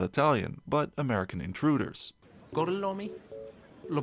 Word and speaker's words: Gorlami: Gorlomi, Lo pronuncio correttamente? Sì, corretto. And so he's starting to test their Italian by making them repeat their names. Per cortesia, me lo ripeti ancora? Gorlami.